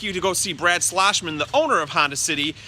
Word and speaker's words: Schlossmann: The name is Schlossmann. Schlossmann. No, people keep talking with the slush. The slush is with the snow. The Schloss is with the car dealership.